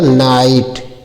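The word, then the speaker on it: knight: तो के को साइलेंट कर दिया जाता है। एन आई जी एस टी है तो क्या पढ़ा जाएगा? नाइट।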